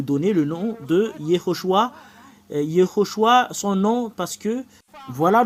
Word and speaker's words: Yehoshua: vous de voir mais la vraie prononciation du nom de Josué c'est Yehoshua quelle est la raison